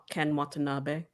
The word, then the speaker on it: Ken Watanabe: Ken Watanabe, is that how you say it? Ken Watanabe. Oh, okay.